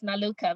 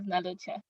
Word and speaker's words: Nalucha: When you look at it, it reads Naluka, but it's pronounced as Nalucha.